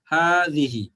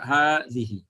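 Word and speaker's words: هذه: বাট এটার উচ্চারণটা হবে হাজিহি আপনাদের লেখার সময় খালি আলিফ দিতে হবে না বাট উচ্চারণের সময় এক আলিফ টানতে হবে হাজিহি হ্যাঁ লেখার সময় এটাকে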